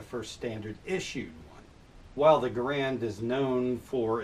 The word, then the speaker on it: Garand: its creator John garand and yes he did pronounce his name garand but everyone ended up calling the thing to garand and that is the name that it is